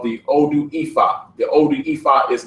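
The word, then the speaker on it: Ifá: This Ife, you will see this spelled like this as well, but that's actually pronounced Ifa as well.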